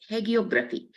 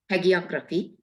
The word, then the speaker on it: hagiography: in the literature of hegeography is that the correct way to pronounce Brothers unique in the literature of hagiography with the memorable words